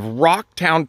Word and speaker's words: Rauchtown: Metropolis of rocktown PA it's not spelled r o c k it's spelled r a u h with the if I just saying the word r a I would say Ral but we don't call it R town we call it Rock